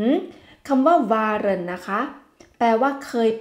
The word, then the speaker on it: waren: คะ เปลี่ยน รูป นั่น ก็ คือ คำ ว่า วน มี คำ ว่า เคย อยู่ นั่น เอง อ่า เคย อือ ฮึ คำ ว่า วน นะ คะ แปล ว่า เคย เป็น เคย อยู่